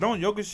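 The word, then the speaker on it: Jokić: Yeah, it's like spelled with a J, but it's like Jokic.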